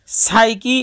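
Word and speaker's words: psycho: যেমন সাইকি এবং সাইকো দুটি শব্দের মধ্যে পি এর পূর্বে কোনো ভয়েল না থাকায় পি অনুচ্চারিত রয়েছে।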